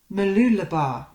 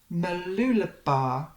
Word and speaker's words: Mooloolaba: "Mooloolaba. Mooloolaba," he said slowly, just as Lexi walked into the room and peered over his shoulder.